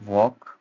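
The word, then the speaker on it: walk: हालांकि पहले जो एनसेट जब टाइम था उसमें इकट्ठे बोलते थे, नो डाउट, बट अब नहीं बोलते। प्रोनाउंसिएशन क्या रहेगी, वॉक मीन्स चलना, आई एम वॉकिंग right now, मैं अभी चल रहा हूँ।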